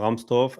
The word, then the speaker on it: Rahmstorf: Let me pronounce it in German. Um Stefan Rahmstorf.